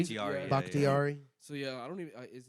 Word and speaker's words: Bakhtiari: Bakhtiari. Yeah. Bakhtiari.